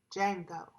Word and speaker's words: Django: words within those names Django the D is silent django Django family well